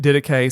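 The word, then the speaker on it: Didache: you can pronounce it I'm pronouncing it diday some people will go too hard and try to you know make it sound very Greek we're just going to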